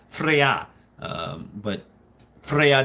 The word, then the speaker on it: Freyja: I I mean it's Freya um but Freya not freyja but Frey the J was pronounced as a yacht in uh in Norse Freya Freya um and then of